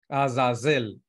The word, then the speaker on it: Azazel: la palabra Azael Sí así se pronuncia con esas azazel no es un nombre